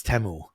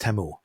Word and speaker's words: Temu: it but they basically say that the it's TAMU in the in the the commercial I'm still